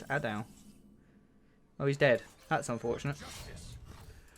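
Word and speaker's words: A'dal: Hand of Udal. Or Adao? How do you pronounce that? Hand of Adao? Oh, it's Adao.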